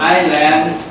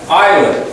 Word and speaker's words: island: standard at Iceland island island CH C for so long right yeah Island remember Island there is the S but the S is is not heard Island island is Iceland is